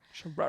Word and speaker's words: Scherer: Lizzie Scherer. Scherer. It's like the rural the rural juror of Saving Spot Dog Rescue says that Vanderpump and Ken neglected to pay her $32,000.